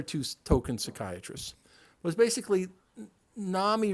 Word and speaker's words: NAMI: token psychiatrists was basically Nami rhymes with Mommy because the vast majority